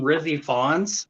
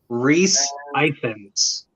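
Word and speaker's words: Rhys Ifans: I like to call him Rizzy Fawns, but pronunciation Reese Ifans.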